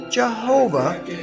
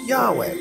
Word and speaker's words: Yahweh: Hebrew Tetragrammaton why hw8 traditionally pronounce Jehovah is now known to be correctly about vocalized Yahweh knew inscriptional evidence from